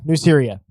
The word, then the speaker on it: Nuceria: I believe that's how they pronounce it. Oh. Nike, Nuceria? Nuceria. Nuceria. There it is. Nuceria.